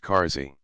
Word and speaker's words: Casa: a house of accommodation Casa is generally pronounced Cary Cascade to vomit case